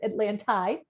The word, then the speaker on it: Atlantide: Then we've got, this is Atlantide. That's how you say it in Italian. I pronounce it Atlantide.